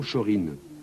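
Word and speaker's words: Shōrin: pins or en japonais ces deux idéogrammes se lisent également shorin c'est une prononciation des formes et de shaolin par référence au célèbre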